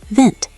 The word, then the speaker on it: wind: We spell it exactly the same as in English, but the W makes a V sound, and the D sounds like a T. Vint."